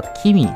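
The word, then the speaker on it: き: 个字呢，读作一个 ki。读作一个 key，那这个字应该怎么去记忆呢？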